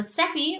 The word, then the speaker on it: Seppi: I am Seppi, rhymes with Peppy, and I'm an American living in Spain.